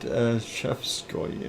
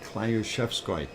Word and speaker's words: Klyuchevskoy: What? Shevskoy? No, Klyushevskoy. It's spelled Klyuchevskoy. And that is a Klyushevskoy. In Russian.